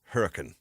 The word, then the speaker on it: Hurricane: in the last segment how do you know she's local cuz she said Hurrican yeah right she knew